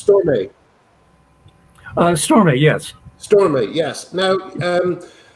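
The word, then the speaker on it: Stormé: Can we talk a little bit about, I just want to make sure I pronounce her name correctly, it's Stormay.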